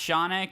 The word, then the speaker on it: Shaunak: It's pronounced Shaunak, Yes.